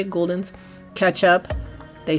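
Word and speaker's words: Gulden's: That's how you say it, Guldens.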